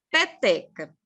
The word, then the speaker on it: peteca: Então, ó, peteca. Peteca, a gente tem aqui a última sílaba e tem a penúltima sílaba e tem a antepenúltima sílaba, né? São 3 sílabas. Para ela ser paroxítona, a sílaba tônica dela vai ser a penúltima. Peteca. Olha só. Penúltima.